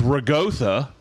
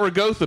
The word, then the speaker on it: ricotta: But if you're like, it's ricotta... It's fucking not ragotha, bitch. There's not a G.